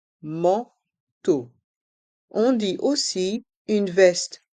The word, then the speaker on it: manteau: Dans le mot manteau, les lettres A et N font le son en, man, et les voyelles E, A, U font le son O, comme la lettre O, manteau.